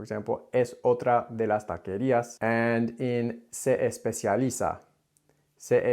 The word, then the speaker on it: taquería: First is the word taquería, which I heard tacaria, tacaria. This is really common for people to take the vowel of the first syllable, I hear this all the time, and apply it then to the second syllable.